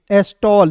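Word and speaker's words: stall: फिर देखिए यहाँ पे एस का आधा स लिख दीजिएगा, टी का टॉ लिख दीजिएगा, और ए डबल एल है तो इसका उच्चारण ऑल के रूप में करेंगे, एस्टॉल। देखिए दोस्तों एक एक चीजों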